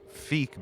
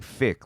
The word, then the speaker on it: Phiik: um recording and I'm I'm pronouncing it fake because we were corrected by lone sword um by lungs himself he he helped us out with the pronunciation because I was saying thick like fix your mouth you know like fake well I asked